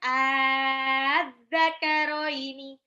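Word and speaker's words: آلذَّكَرَيْنِ: Bacanya 6 harokat. Az-zakaroini. A-nya dipanjangin 6 dulu, baru ketemu zal tasdid, karoini langsung.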